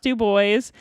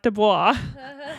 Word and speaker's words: Dubois: And yes, it is pronounced Dubois. They had stickers that would be like, "It is not Dubois." But we were headed to the town of Dubois.